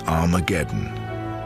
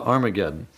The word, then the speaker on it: Armageddon: Testament written in Greek Armageddon has an aspirant at the beginning meaning it's pronounced with an H so it originally was harmageddon and you can get